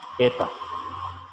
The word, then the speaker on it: eta: como con un rabito esa letra se pronuncia así eta la jeta y está